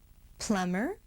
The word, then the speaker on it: plumber: The consonants MB together say only M. For example, we just say plumber, plumbing, climb, climbing.